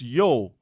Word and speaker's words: io: The customary greeting for the occasion is uh ho or yo shatonilia io pronounced yo being in Latin interjection related to ho as in ho ho ho that Santa Claus usually says ho as in ho praise to Saturn.